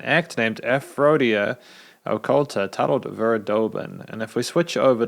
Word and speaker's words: Verdorben: At the start of the review, I incorrectly pronounced the name of the song as Verdorben. The song is actually called Verdorben.